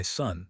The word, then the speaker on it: Su: The 6 sounds are Su, pronounced like SHH with a deep sigh which is associated with the liver.